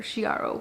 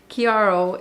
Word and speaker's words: Chiaro: line chiaro i know i say chiaro i know how to pronounce it i just like how it sounds better shiaro but kiaro is the dupe to